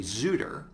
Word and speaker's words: Xootr: So in fact, for my company Zootr, which is spelled Xootr, we also registered, for instance, Zooter, which is a spelling variant that people would naturally think of.